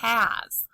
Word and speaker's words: has: There's a heart under the S because the S makes the Z sound. Excuse me, just like in the word his, or is, or as, sometimes S at the end of a word says Z.